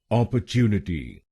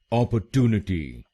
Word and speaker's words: opportunity: तो बनेगा अपॉर्चुनिटी, अपॉर्चुनिटी। Op, chew, ने, टी। ऑप, च्यू, ने, टी। अपॉर्चुनिटी, अपॉर्चुनिटी। और ये ध्यान में रखिएगा कि हमको तीसरे शब्दांश पर यानी TU पर जोर डालना है।